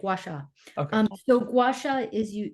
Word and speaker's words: Gua Sha: going to butcher it I'll just spell it Gua Sha gacha oh you said it perfect gasa um so gacha is